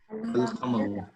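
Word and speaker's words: القمر: Al-Qamaru. Al-Kamaru, right? So what Yeah. did we pronounce the al?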